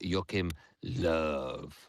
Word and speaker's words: Joachim Löw: One of my favourite managers that I like to pronounce the name of is Joachim Löw, which I think it's exactly how he says